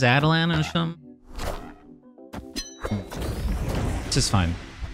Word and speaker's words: Attilan: Trying to get most Adelan value. Am I saying it right? Adelan? Attilan. Adelan. It's Adelan. Someone corrected me early on and I don't remember what it was, but I think it's Adelan.